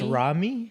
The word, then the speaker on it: Rommii: spelled like, with a no. like, Yeah. Rowing a, boat.